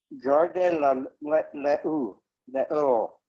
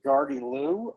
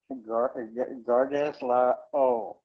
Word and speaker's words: Gardez l'eau: One of the things is the British always mispronounce French, so that came out as Gardez-loo, and that's why the British call a water closet, a toilet, a loo. It's from Gardez-loo. Gardez l'eau.